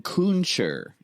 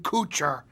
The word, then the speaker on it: Kutcher: into The Artsy films you're thinking of Ashton kuncher TJ is that what's pronounced kuncher yeah I think so yeah nope if not Ashton Kutcher it's Kevin Malone equally handsome equally smart no